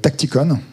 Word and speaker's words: TactiCon: Donc aujourd'hui, on va vous parler de Tacticon, on prononce à l'anglaise.